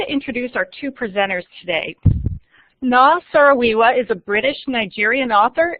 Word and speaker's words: Noo: where you can learn the correct pronunciation of her name, which is Noo.